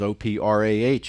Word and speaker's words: Oprah: She goes, "Oprah," and the H is silent.